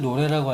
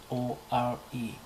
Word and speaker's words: lore: 자 그리고 우리가 흔히들 노래라고 알고 있죠 노래 노래 영어에서 온 건데 lore입니다 lore 저도 이게 노래란 노란 줄 알았어 노래 근데 원어를 한번 들어보십시오 노래가 아닙니다 근데 우리는 그냥 철자